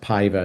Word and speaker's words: Paiva: It's pronounced Paiva. It's Portuguese. Paiva.